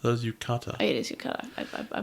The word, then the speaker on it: yukata: But you see some people in Yutaka. Is that how it's pronounced? That is Yukata.